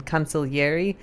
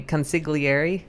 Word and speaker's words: consigliere: the wrong number but it's spelled with that gl that americans don't say right like in consolieri but americans say consigliere yeah yeah it's kind of like a y consulageri spelliato sp it's a slightly different sound but anyway so that's